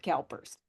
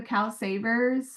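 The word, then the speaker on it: CalSavers: be aware of with Kalpers? Are we talking about the Cal Savers? Yeah, that's it. I knew I was saying it wrong. I knew I had it wrong.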